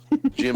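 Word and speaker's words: Jymn: is Jim Megan and his first name is spelled like the word him like like no like I just realized that didn't work because it's yeah h y mn but it's j y mn gy gym okay you were saying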